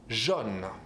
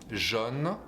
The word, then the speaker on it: jaune: Sometimes this O will change to be pronounced a bit more open, like O. Like if I say, for example, yellow. Jaune. Jaune. Autobus. Jaune. It's a tiny bit different. That will be up to actually what syllable you have after.